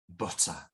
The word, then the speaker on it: butter: Or if you prefer, butter, yeah, in American English, but it's the stresses are still on the same syllable, whether it's butter with stressing with the t sound, or butter with American English.